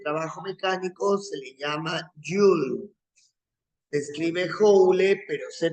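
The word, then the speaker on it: joule: se mide el trabajo mecánico se le llama jul se escribe jle pero se pronuncia jul y el símbolo en la letra j mayúscula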